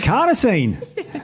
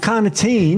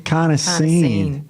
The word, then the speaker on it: carnosine: what does it do carnosine Steve carnosine not cartine not cartin carnosine so beater alanine you